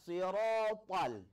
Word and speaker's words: الصراط: Huruf ta ini pengucapannya ada keluar lidah sedikit. Sama seperti pengucapan huruf sa. Abatasa, sa, to. Jadi ketika kita baca siratal, siratal, kalau tidak ada keluar lidah, bisa jadi dia menjadi huruf ta.